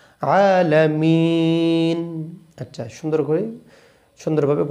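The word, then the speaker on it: العالمين: হবে এরপরে মিটানতে হবে অনেকে বলে আলহামদুলিল্লাহি রাব্বিল আলামিন আলামিন আলামিন আলামিন বললে হবে না এখানে তিন আলিফ টানিয়ে বলতে হবে আলামিন আচ্ছা সুন্দর করে সুন্দরভাবে ভাবে গোটা আয়াতটি আমরা চেষ্টা করি।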